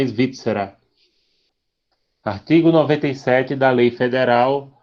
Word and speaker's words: Svizzera: Pronúncia italiana é Svizzera.